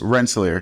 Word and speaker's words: Rensselaer: He went to RPI, and I'm only saying RPI because I don't know how to pronounce the first word. It's just Rensselaer.